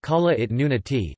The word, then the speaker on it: Kalaallit Nunaat: Greenland, Greenlandic, Kalaallit Nunaat, pronounced Kalaallit Nunaati, Danish, Grønland, pronounced N-Lan, is an autonomous constituent